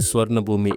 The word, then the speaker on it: Suvarnabhumi: And then, we landed at the legendary Suvarnabhumi International Airport. Yep. That's pronounced Suvarnabhum.